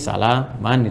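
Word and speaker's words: سلاما: Jadi bacanya panjang, ini sama dengan satu alif, ya, salama.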